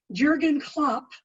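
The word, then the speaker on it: Jürgen Klopp: athletics and the question says I hope I'm pronouncing his name right Jurgen Klopp has been the manager of Liverpool since 2015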